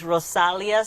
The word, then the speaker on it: Rozalia: So that's another thing that people, because the Z is pronounced like an S. So it's Rozalia is, at Rozalia for Instagram.